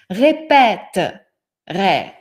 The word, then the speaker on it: répéterai: Regardez, comme ce E ne se prononce pas, c'est-à-dire la syllabe devient fermée, c'est-à-dire le son devient ouvert. Voilà. Répéterai.